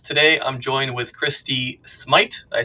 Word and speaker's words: Smythe: with Nelly podcast today I'm joined with Christy Smite I say that right yes she is a